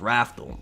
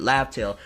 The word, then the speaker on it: Laugh Tale: final island laugh tale which originally we thought it was wrathful but it was you know romanized is the proper way of pronouncing it laugh tale I'm thinking there's something